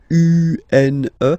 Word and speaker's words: une: Then the feminine article is here, and it's easier because if you have this U-N-E, then you pronounce it une, une.